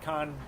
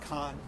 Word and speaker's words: Cannes: It's pronounced Can. Oh, Cannes. Yes. What are we saying? I think we might have said Con. It's Cannes. Whatever.